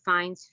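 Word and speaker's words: Fiennes: ralph fines oh yeah that's how you say his name finds fianna thank you oh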